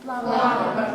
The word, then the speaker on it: plumber: How do you pronounce it? Plumber. Plumber. Plumber without B.